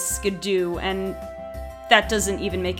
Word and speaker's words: Skiddo: You could ride a Skiddo or a Go-Goat, which, by the way, I only recently learned that apparently Skiddo's official pronunciation is Skidoo, and that doesn't even make any sense.